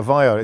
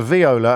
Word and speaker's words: viola: And I pronounced it wrong. I called it a violet. It's a viola and it's an ensemble, not an ensembler.